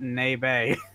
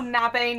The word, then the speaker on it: Nabe: In comes Psycho with that Nebe. Oh my god, did you call Nabe Nebe?